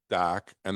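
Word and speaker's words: Dahka: Or but spelled D-A-H-K-A. H. Okay, Wicked so DACA. Wicked That's the DACA. way it's spelt the way it sounds. DACA.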